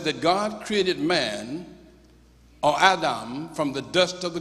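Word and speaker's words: אדם: Phonetically, it is pronounced in the Hebrew Adam, A-D-H-A-M, but it means black.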